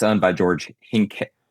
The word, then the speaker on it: Hincapie: Um and it's owned by George Hincapie. I can never pronounce his name right. Uh Hincapie, I believe is how it's pronounced. I always pronounce it wrong.